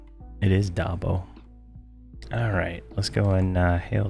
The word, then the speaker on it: Dabo: It is Dabo.